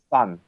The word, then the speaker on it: Sun: Call me just Sun. All right. Yeah. Sun. That works. The sun in the sky.